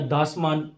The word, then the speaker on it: Dasman: दाजमान या दासमान, आप जो भी कह लें, मैं दाजमान पढ़ना पसंद करता हूं इसको, ठीक है। मैं दासमान नहीं कहता, मैं दाजमान कहता हूं। बहरहाल इसके जो स्पेलिंग है वो DASMAN है, दासमान। मैं दाजमान पढ़ता हूं।